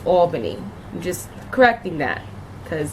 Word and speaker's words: Albany: the east side my whole life like it's pronounced Albany ok a lot of people that are not from Albany pronounce it Albany and that is annoying it is not Alban it's Albany I'm just correcting that cuz it's a pet